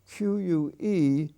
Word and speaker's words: queue: the odd word q q-u-e u-e and that's from the french that's why we have such a peculiar spelling but its pronunciation is q and q as we